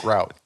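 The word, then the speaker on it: gruit: with made without hops it's not pronounced groot it's pronounced strangely enough it's pronounced grout head to groot what you put in between your tiles it's kind of funny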